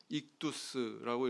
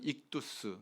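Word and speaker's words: ἰχθύς: 뜻입니다 그런 뜻이에요 그래서 헬라어로이 물고기라고 하는 단어가 익두스라고 이렇게 발음을 하는데요 익두스 단어를 다른 단어의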